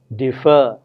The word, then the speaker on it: defer: words differ d-i-f-f-e-r and defer d-e-f-e-r with two different meanings whereas one differ is stressed on the first syllable defer is stressed on the second syllable now how do we